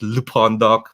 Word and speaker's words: lpondoc: That's LPONDOC, not L as in I'm a luchador, so it's actually supposed to be pronounced Lupondoc, but I didn't think about that.